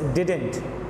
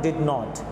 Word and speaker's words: didn't: और दूसरी चीज़ ये भी है कि डिड नॉट भी नहीं बोलते हैं, although it कैन be said but the correct pronunciation is डिडंट, okay, the correct pronunciation is डिडंट, इट is never डिड नॉट।